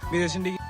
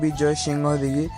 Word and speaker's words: বিজয় সিংহ দিঘি: cycle নিয়ে চলে এসেছি বিজয়সিং দিঘি তো গাইস তোমরা যেমনটা দেখতে পাচ্ছ এটাই হলো সেই বিজয়সিং দিঘি মানে এটার সঠিক উচ্চারণ হচ্ছে বিজয় সিংহ দিঘি তো গাইস দেখতে পাচ্ছ